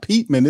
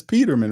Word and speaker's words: Peterman: said No it's it's it's not Petman it's Peterman right I'm saying it right isn't it Nate Peterman yeah it's Nate Peterman it's not Petman it's